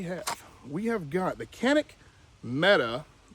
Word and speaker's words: Canik: And he said they're actually called Janek or Janik. That's how they pronounce it in their country. So, look what we have. We have got the Canik Meta 9 mm.